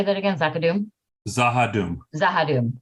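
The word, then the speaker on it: Z'ha'dum: And they are the people that they encountered over at, is it Zakadoon or how do you say that again? Zakadoon? Zahadum, no CH.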